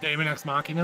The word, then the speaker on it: Daemon X Machina: Nintendo finally gave a release date, Kyle, for how do you pronounce the name? Machina D. Oh, Daemon X Machina?